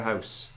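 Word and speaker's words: Haus: who's in Germany said we say house spelled h-a-u-s there we go yeah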